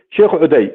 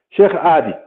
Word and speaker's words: آدي: عدي فسموه عدي أيضا، لكن هو اسمه آدي، احنا نسميه شيخ آدي. لحد الآن لا يوجد يزيد يقول شيخ عدي أو شيخ عادي، لا، شيخ آدي.